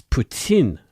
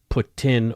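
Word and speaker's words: poutine: said said Putin correctly Putin it's Putin not Putin or ptin Putin Putin this is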